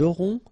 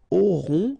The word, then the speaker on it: auront: Then ils auront, final T not pronounced, O-N together, on, auront, okay, and then the link between the two, ils auront, elles auront.